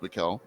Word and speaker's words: Michael: So that's like Michael E pastel, but it's actually pronounced Mikuel.